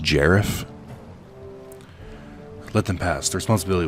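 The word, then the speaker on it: Garif: business do you have with the Gareth link's pronounced jeraf let them pass the responsibility we mine I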